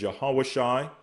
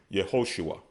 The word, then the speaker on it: Yehoshua: Joshua, which in Hebrew is Yahawashai, they would pronounce it as Yehoshua, okay?